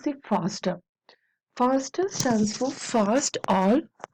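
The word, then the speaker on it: FASTA: faster faster stands for fast all which pronounce a fast a it is not faster actually fast a and it stands for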